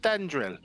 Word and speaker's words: Thalandril: Thandril and Thalandril. Actually, you're pronouncing it wrong. The L is silent in the middle there. Yeah. He's Spanish. Get it right, idiot. Te llamo Thandril.